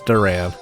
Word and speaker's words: Duran: I assumed it wasn't pronounced like Duran, but it is. It's Duran.